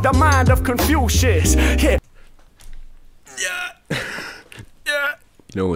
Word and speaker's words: Confucius: con confucius produce this is three syllables confucius if i'm not mistaken